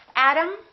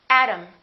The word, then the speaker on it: atom: And remember, T between two vowels sounds exactly like the D.